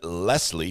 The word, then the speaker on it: Lesley: have Christa Calamity Jane Lesley pronounced lesle I like that uh